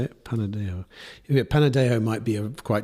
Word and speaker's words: Panadexo: Panadexo.